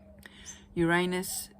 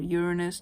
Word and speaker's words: Uranus: short-term goals at saturn rules it's long-term energy uranus or uranus depending on how you pronounce it is in alignment with jupiter and